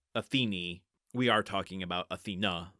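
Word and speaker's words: Athene: I've opted for the traditional name of Athena for my own sanity, but it is pronounced Atheni.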